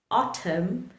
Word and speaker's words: autumn: For example, in words like dam, autumn, or column, the letter N remains silent.